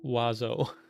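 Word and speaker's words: oiseau: It's like it's like every vowel but then it's pronounced wazo.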